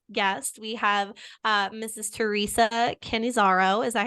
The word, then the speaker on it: Cannizzaro: Theresa Cannizzaro.